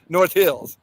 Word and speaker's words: North Hills: you know uh so the way I say North Hills is Accent on the North no no no no excuse me Accent on the Hills North Hills and I feel like